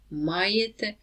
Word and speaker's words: маєте: Only be careful with the stress. So, ми маємо, ви маєте, вони мають. So stress on the first ma everywhere.